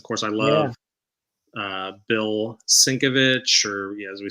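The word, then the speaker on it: Sienkiewicz: s-i-n Dash k-e-v uppercase Singh kevitz like Kevin is the the emphasized syllable um uh Tom's saying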